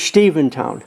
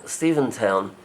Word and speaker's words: Stephentown: towns of Stephen Town it is Stephen town Steven town uh name for Stephen Van Rensselaer who owns a good